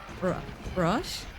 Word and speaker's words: Roche: Dude, how do you pronounce 2 planets approaching the Roche limit? I know what the word means, I just don't know how to pronounce it in English, and it's seriously, You got it? I said like 4 different pronunciations here. Rush? Okay.